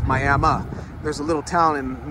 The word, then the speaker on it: Miami: It's actually not pronounced Miami, it's Miami.